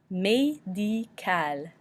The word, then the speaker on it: médical: This is a hard one because it's very close to the English word medical, but it's not pronounced a lot like medical. When you think about the French E with the accent aigu makes the A noise, and I makes the E noise, so you have to